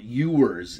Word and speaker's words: Ewers: louisiana monroe and quinn quinn e ewers is how it's pronounced quinn ewers the court of the